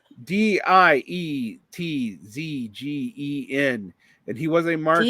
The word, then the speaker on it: Dietzgen: Dietzgen, and he was a Marxist. DIE is D. Dietzgen.